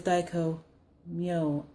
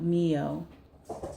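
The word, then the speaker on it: Dai Ko Myo: Like, daiko myo is daiko myo, not mio. It's just the way it is in Japanese. It would be pronounced myo.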